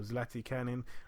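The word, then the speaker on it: Zlatičanin: We're going to go down now to the chief support, Dejan Zlaticanin. I think that's how you say it, or Zlatikanin. I've heard a few different pronunciations.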